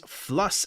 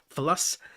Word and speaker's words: Fluss: which of course is Fluss as Patrick was trying to pronounce it philos by um when they